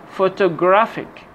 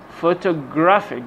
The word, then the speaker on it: photographic: Put the stress on the syllable before IC or ICAL. For example, photographic, photographic, graphic, electrical, electrical, automatic, automatic, automatic.